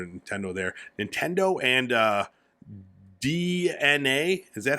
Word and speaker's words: DeNA: Nintendo and DeNA. Is that how you pronounce this?